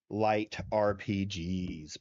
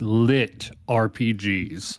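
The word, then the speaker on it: LitRPG: bit Vincent about uh light RPGs, buddy. Okay, call me a nerd, but it's lit RPGs. Literature RPGs is how it's pronounced.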